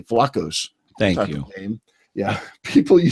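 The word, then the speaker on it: Vlachos: is a Tony Tony I'll say it correctly flacos thank you yeah people you see playing that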